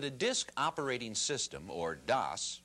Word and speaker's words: DOS: Before you boot up, I think you should know that a disk operating system, or DOS, pronounced like toss, is like an office